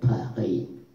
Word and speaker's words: Paris: Paris, không đọc là Paris mà đọc là Paris, nghe chưa? Rồi nó trong cổ.